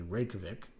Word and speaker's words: Reykjavik: capital of Iceland, and I am pronouncing it correctly, Reykjavik, is going to be a green dial, and then there will be a New York, which is a blue dial.